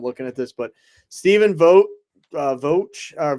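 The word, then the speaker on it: Vogt: at this but Stephen Vote vot or vote I can never say that but it's like the silent G right stepen vote I I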